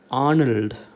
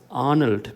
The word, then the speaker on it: Arnold: വേറാസ് a native English speaker would pronounce this name as Arnold. Okay, they pronounce this name as Arnold because they give primary stress to the first syllable.